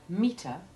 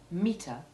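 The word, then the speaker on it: metre: the americans spell it similarly we have meter a measuring device and meter the unit of measurement words which are identically pronounced note again however that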